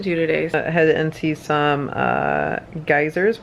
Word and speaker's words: Geysir: Head into some geysers, which are actually pronounced geyser here, and a waterfall.